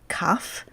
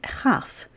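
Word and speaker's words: כ: Similarly, Kaf and Chaf. It's the same letter, 2 different pronunciations, and then Pei and Fe.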